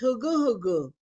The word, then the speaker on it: Hungu-Hungu: When we say our music, Hungu-Hungu, you see the N in the Hungu-Hungu? We don't pronounce the hung. It's a silent N. It's Hungu-Hungu.